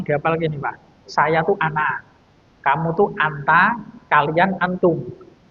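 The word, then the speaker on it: أنا: Nah, di sini pada kata ana itu ada alifnya, tapi alifnya tidak berfungsi. Nah, jadi bacanya ana di situ pendek.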